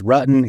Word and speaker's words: Rutten: I need to pronounce the T's. I live in the Mountain West region, and so it's Rutten, it's mountain, it's hurricane, not hurricane.